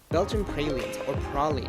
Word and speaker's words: praline: the modern day praline Oh prolly as they originally pronounced our small chocolate vessels